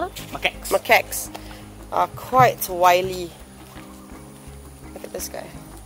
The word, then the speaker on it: macaques: Macaques, is that how you pronounce it?